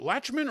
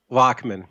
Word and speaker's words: Lachman: of your last name is it latchman or lachman lachman lachman lochman l a